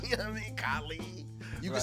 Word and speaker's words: Kahlee: that's my point yeah they want to call me callie i'm like so i changed the spelling because it used to be k-a-l-i changed it to k-a-h-l-e-e and now it's about pronunciation i'm sure it improved somewhat but let's just say who's still calling me cali what's your name kylie oh cali i'm like more like how i said it i mean kylie you